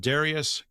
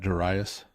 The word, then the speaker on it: Darius: of the reign of Darius, king of Persia. You don't want to be British and pronounce that Duras.